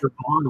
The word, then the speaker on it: Siobhan: I thought Siobhan was bad. Oh god, it's so Siobhan doesn't have a V or an F in it, but it has a BH.